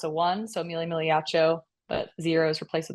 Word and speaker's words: Migliaccio: for not correcting me I've been mispronouncing your last name saying migia but it's miao right oh I honestly